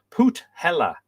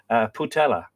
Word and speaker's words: Putela: It's 21 in South Africa, and pronunciation is Put Hella. Thank you. Setswana language, meaning wrap or cover. I really like that. Like a wrap of protection or a cover of protection. Putela.